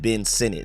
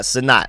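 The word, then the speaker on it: Sinnott: let y'all know I keep hearing people Now Pronounce it Ben Senate not sonat I've been calling it sonat for the past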